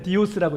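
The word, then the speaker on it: D10S: 그래서 여기서는 그 D110S 그거를 그냥 읽을 때는 그냥 디오스라고 읽잖아요.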